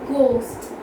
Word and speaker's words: ghost: Then ghost. Although it has H there, it has G there. So H is G then H. So H has G before it. Okay? So it is silent.